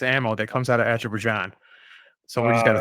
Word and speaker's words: Azerbaijan: Since we're doing plugs, Evgeny, how do you feel about Azerbaijan?